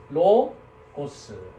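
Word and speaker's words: λόγος: 그래서 로고스. 그래서 이건 리을 발음, 오 발음. 그 다음에 요거는 간발음 뭡니까? 네, 기역 발음이죠. 그다음 오미크론, 그죠? 그다음에 스, 그래서 로고스 이렇게 됩니다.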